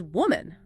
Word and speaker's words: woman: Woman lamb with the sound at the end versus women limen with the I sound.